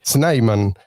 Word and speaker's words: Snyman: Hoy está con nosotros el señor y se pronuncia así, Sniman en la red social X.